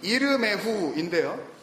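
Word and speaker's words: ירמיהו: 예레미야 히브리어 원래 발음이 이르메후인데요.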